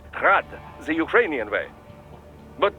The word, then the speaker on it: Grad: eugene's name is pronounced grad the ukrainian way but most in the business pronounce it as grad russian style crazy to think i'd